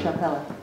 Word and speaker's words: Chapela: Chapela. You spell it as in chapel with an A at the end.